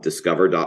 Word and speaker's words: DSCVR: website which is um discover. one and discover is spelled dscvr um.